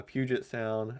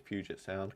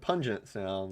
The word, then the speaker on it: Puget Sound: I think it's Puget Sound. Correct me if I'm wrong. Um but even if I'm pronouncing it wrong, it's not as bad as what he pronounced it. Uh he said pungent sound, which uh that's my favorite misprononunciation of his.